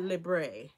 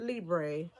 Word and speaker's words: Libre: They usually don't know how to pronounce this, but it's called Libre. Not Libre. Not Libre. Not Libri. It's Libre. Libre.